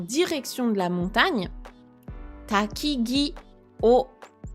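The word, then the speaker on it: を: Donc le grand-père ou le vieil homme, le vieillard. Comme d'habitude, qu'est-ce qu'il fait? Yama e, en direction de la montagne. Takigi o, particule wo, qui se prononce plutôt o en général.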